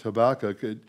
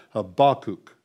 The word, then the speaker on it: Habakkuk: Habakkuk. Okay? That last U is long.